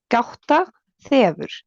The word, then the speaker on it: gáta þefur: It's like the weird thing that looks kind of like a P. It sounds like a TH. So it's like gáta þefur.